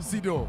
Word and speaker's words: Seydou: Did I pronounce that properly? Sido.